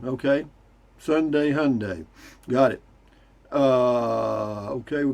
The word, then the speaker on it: Hyundai: they once said that the easiest way to remember how to say yunday was that it rhymes with sunday okay sunday hyundai got it uh okay